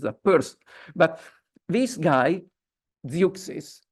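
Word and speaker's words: Zeuxis: actually existed as a person but this guy zis pronounced in English as zis but you spell it z e x i s and the Greek read it zois but never mind now he was famous for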